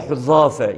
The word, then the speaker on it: Huzafe: Yani Arapçasında Huzafe, yumuşak zalla, topal zeyle okunur.